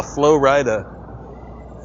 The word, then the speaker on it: Flo Rida: The artist's name is Flo Rida. Flo Rida. It's spelled like Florida.